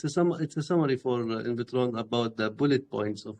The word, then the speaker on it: Invtron: Is it Invtron? What? How do you say it? Invitron DAO. Invitron. Okay.